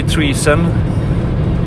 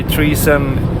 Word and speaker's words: treason: it's instead of high treason, it's high treason, like you would pronounce treasure, but the word treason instead.